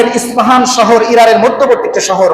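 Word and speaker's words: اصفهان: সেই জায়গার নাম হচ্ছে ইস্পাহান। আরবিতে প হয় না, ইসবাহান বা উচ্চারণ করা হয়।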